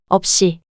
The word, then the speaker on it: 없이: the silent 이응, of the next syllable and pronounced as. 없이, Example 5.